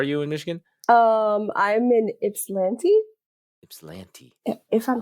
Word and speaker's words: Ypsilanti: I'm in Ypsilanti. Ypsilanti. If I'm pronouncing it right. Locals say Ypsilanti.